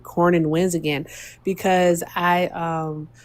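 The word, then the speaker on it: Cornyn: you want to keep Cornin in Cronin Cornin I always mispronounce his name is it Cornin Cornin okay Mr.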